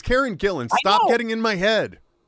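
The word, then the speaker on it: Karen Gillan: um uh man uh Kieran Gillen or Karen how do you pronounce her name Karen Gillen I think you got it right there or Gillian I don't know which one I don't remember now you've got me it's Karen Gillen stop getting in my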